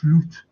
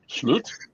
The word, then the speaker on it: Slot: before but the pron the pronunciation of slot isn't it's slute slute okay anyway hopefully slute